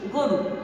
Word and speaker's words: গরু: একইভাবে গরু বলছি না, আমি উচ্চারণে কি বলছি, গরু, গরু। কেন, এখানে একটি গয়ের সঙ্গে অকার ছিল আর অকারের পরে রয়ের সঙ্গে একটি রস্যুকার ছিল, তাই এই অকারটার উচ্চারণ কি হয়ে গেল, ওকার।